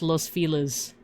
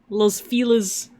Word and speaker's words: Los Feliz: But yeah, the city name that I put in the chat, at least from what I recall people saying, it's pronounced Los Feliz. Los Feliz.